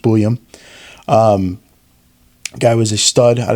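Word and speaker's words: Buium: He's paired up with rookie Zeev Buyum, who I've been saying his name wrong this whole time. It's just Buyum.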